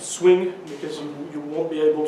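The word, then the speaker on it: Suing: I start with Guillaume Souin, but I think it's better you pronounce it swing, because you won't be able to pronounce it, and it will not help with visibility in the US.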